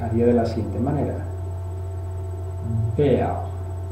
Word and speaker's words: Bär: va antecediendo una R, esa R en posición final se vocaliza y se pronuncia como si fuese una A o algo similar.